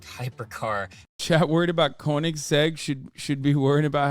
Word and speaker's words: Koenigsegg: course newer and they're exploded why'd you say koenigs felt cake w am I saying it wrong is that